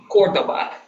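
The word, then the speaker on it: Córdoba: Also, not that it matters hugely, but Cordoba is actually Cordoba. The accent is on the first.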